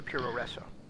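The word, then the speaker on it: puroresu: bit racist, but basically, for the Japanese way that they would say, with the way that they pronounce American words, professional wrestling. It would come up as Puro Refo Professional, Puro Refo Resso Ringo, and so that's been shortened over the years to Puro Resso.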